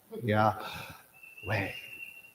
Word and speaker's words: Yahweh: And some have pronounced it like breathing in and breathing out. Say, Yah. I did it the opposite way. Yahweh.